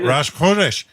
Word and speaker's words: Rosh Chodesh: he's been up to lately this is from Rush qodesh Hillyer huh how do you pronounce that rabbi called it yeah very Rosh Chodesh now now this is practicing a safe social